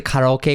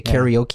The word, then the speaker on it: karaoke: It's like how we pronounce karaoke. Yeah. You know, we don't say karaoke, we say karaoke because it's the way you pronounce it.